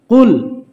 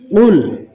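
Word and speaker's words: قل: আগে বলবেন কফ, তারপরে বলবেন লাম, তারপরে বলবেন পেশ। কফ, লাম, পেশ, কুল। কফ, লাম, পেশ, কুল।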